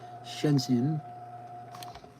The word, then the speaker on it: Shenzhen: There's probably about a thousand vape manufacturers in China in Shenzhen Shenin. That's how you say it. Shenzhen.